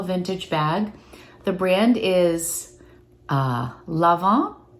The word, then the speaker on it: Lanvin: The brand is Lanvin, Lanvin, and I watched a pronunciation thing, and it said that in French, an is en, like you don't say the n, so Lanvin. I would have said Lanvin, had I not read up on it.